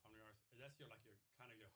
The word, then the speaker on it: Omniiris: Omniiris. Omniris.